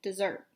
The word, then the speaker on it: Desert: on an island called Mount Desert she pronounced it dessert ice cream cookies brownie